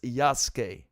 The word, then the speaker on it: Yasuke: she said it, but she in the game says Yasuke. So I think from now on, so even the developers in, like, that first trailer breakdown they did said it wrong. So we should now, from now on, it's Yasuke.